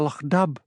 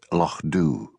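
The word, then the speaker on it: Lochdubh: What has happened to Lo Dub? She demanded. Lo, corrected Hamish gently. It's pronounced Lo Doo.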